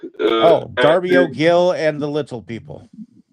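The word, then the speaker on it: Darby O'Gill: It's called uh I'm not sure if it's pronounced Darby Gill or Dario Jill. Oh, Dario Gill and the Little People.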